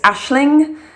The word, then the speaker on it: Aisling: Number 6 for a girl is an Irish name, and it's pronounced different than it's spelled. It's Aisling, and I just think it's beautiful.